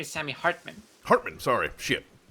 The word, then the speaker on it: Hartman: Sammy Hart my my name is Sammy Hartman Hartman sorry I knew it was